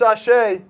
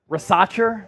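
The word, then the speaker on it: Risacher: going to be race rash is that the correct pronunciation yeah what were you saying racher oh so it's French rash R rash Zachary rash I would go alexar but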